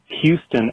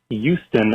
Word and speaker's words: Houston: I hear Mike say words such as Houston and humor as Houston and humor. The HU sound is replaced with what I hear as a Y sound.